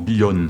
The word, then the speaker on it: Villon: ça se prononce Billan, alors que Villon, en espagnol, ça se prononce Billon, vous voyez, donc Billon, Billan.